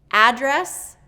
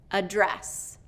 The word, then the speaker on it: address: Address, address. So address, address. Okay, so one is first syllable stress and one is second syllable stress.